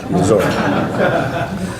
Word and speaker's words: Missouri: You see, I learned to say it right, Missouri.